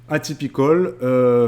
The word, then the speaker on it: atypical: avez la série atypical atypicol comme ça se prononce en anglais a y Picol là